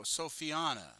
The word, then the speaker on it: Sophiana: uh is it uh is it just oina sop sopina okay sopina okay all right all right I just didn't know if it was if if the TZ was spelled like tar oh no no sophiana sophiana sorry you're missing an a there commissar yes yes yes